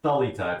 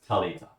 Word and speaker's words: Thalita: And I'm pretty sure I know that it's not Thalita, it's Talita.